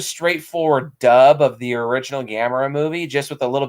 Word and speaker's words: Gamera: they call them gamera which what it's it's gamera the uh but yeah the i still hear people pronounce it that way to this day gamer